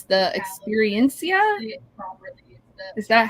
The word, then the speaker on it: Experiencia: It's the Experiencia.